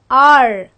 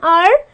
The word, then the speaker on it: hour: our power no we don't we say an R so why do we say an R because this again is silent and this is my first word that